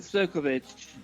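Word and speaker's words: Ćirković: And a new paper just came out recently by am I pronounced this right? Serkovich? Yeah, Milan Serkovich.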